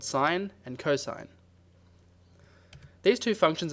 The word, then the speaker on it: sin: to SI n but notice that this is still pronounced sine the most important property